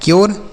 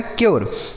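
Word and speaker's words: cure: सी से हो गया क, यू का उच्चारण यो होगा। आर ई से रो, यह लिखा है क्योर, क्या लिखा गया है? क्योर।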